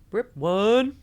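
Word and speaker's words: BRIP1: BRIP one. Got to say it like that. Brip one. RIP one. It's like broa but not as hardcore as broa.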